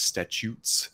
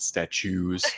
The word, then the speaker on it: Statutes: That is Statutes, not statues.